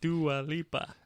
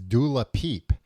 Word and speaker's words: Dua Lipa: Dua Lipa. Is occasionally referred to affectionately by fans as Dula Peep, which originated as a mispronunciation by American talk show host Wendy Williams in 2018.